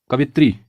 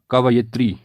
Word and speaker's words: कवयित्री: अगली वर्तनी है कवित्री हम में से कई लोग इस शब्द का उच्चारण गलत करते हैं और इसीलिए गलत भी लिखते हैं इसका लेखन भी अशुद्ध होता है जबकि शुद्ध प्रयोग होगा कवयित्री क व य में हरसई और त्र में दीर्घ तो हो जाएगा कव यत्र अगली वर्तनी है अंतर्ध्यान